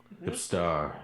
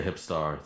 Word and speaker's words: Hipster: Eizen, and Hipster, right? Yes, exactly. And it's hipster. Yes, hipstar. That's how you pronounce it. Hipster. But yeah, hipstar.